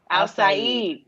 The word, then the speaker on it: Al-Said: We have Farooq Al-Said. Is that correct? Did I say it right? Outside. Al-Said.